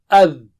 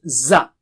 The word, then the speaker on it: ذ: So how do you say it? The or ad. So don't say it as za. Za is not same as the.